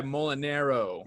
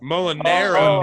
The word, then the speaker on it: Molinaro: Don't mean to be that guy. Molinaro. Mulinaro. Molinaro. It's Damn. a common mispronunciation, but, I'm trying to spread the word.